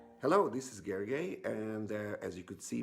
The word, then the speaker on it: Gergely: it again so that it's a Hungarian name so you might not be familiar with it it's Gergely it is a hanky